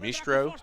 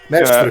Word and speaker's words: Mestre: Is it Mistro? Is that how you pronounce it? Mestre, so- mestre. If you wanted to say it in like an English way, just say mestre.